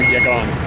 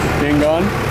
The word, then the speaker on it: Yangon: back from manderlay down back to yon so Yangon am I saying it wrong again you were really close Yangon anyway um so my